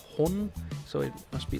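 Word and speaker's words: 本: And then there is the letter for the character for book, which is pronounced hon.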